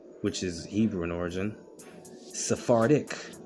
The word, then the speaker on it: Sephardic: Sephardic, like Noirdic.